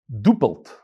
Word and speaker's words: Doppelt: pronounced yarley doppelt derebelli my name is dopeld pronounced dupult many of you tell